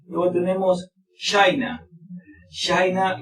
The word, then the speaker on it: China: China, recuerden, la pronunciación así es de esta forma. China. No tenemos che en inglés.